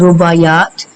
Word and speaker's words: رباعیات: pronunciation رباعیات.